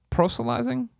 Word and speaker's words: proselytizing: For the record, what won me over wasn't your proselytizing? How do you pronounce that one, Colin?